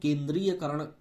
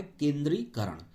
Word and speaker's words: केंद्रीकरण: केंद्रीकरण, केंद्रीयकरण लिखा होता है, दा दा के नीचे रा बड़ी की मात्रा और फिर या बीच में होता है, और हम लोग केंद्रीयकरण बोलते हैं उच्चारण में, इसीलिए हम लोग से गलतियां होती। शुद्ध होता है केंद्रीकरण।